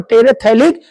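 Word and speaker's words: terephthalic: PH silent रहता है, ethylene glycol और टेरेथैलिक एसिड।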